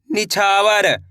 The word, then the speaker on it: निछावर: ना में छोटी ई की मात्रा नी, छा मा की मात्रा छा, वा और तो मिलके बन जाएगा निछावर। कैसे पढ़ेंगे?